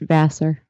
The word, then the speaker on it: Vassar: It's pronounced Vassar.